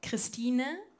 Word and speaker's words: Christine: In German, you pronounce my name Christine, and my short name is Stine.